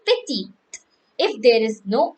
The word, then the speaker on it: petit: on this, and so some words have the not pronounced the last word like sha. We say sha, and then we say petty, petty. If it is not E in the petty, like PETIT, E is there, so we will say petty.